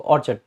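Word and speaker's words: orchid: इसमें आर को साइलेंट भी रख सकते हैं, ऑर्चिड बोल देते हैं इसको, ऑर्चिड, ठीक है?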